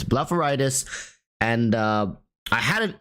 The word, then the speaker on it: blepharitis: you can search up it's called blepharitis that's spelled with a b-l-a-p-h not b-l-a-f it's blepharitis and uh I had it in my eyes